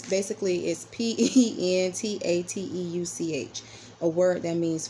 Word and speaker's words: Pentateuch: Genesis is the first book in what is called the I always pronounce this wrong. Hold on, guys. The Pentateuch. It's Pentateuch, a word that means 5 books.